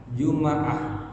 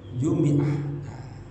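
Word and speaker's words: جمعة: Jadi doma udah kan? Doma sukun sekarang fathah. Jadi Jum'ah. Paham ya? Jumu pertama doma Jum'ah. Udah sukun Jum. Tiga fathah. Jumaah, Jumaah. Yang keempat, wahaka tadi. Ada juga yang membacanya dikasrohkan. Jadi Jumiah. Ya, begitu. Tetapi secara penyebutan yang hari Jumaah secara Jumatan, mingguan itu disukunkan Jumaah.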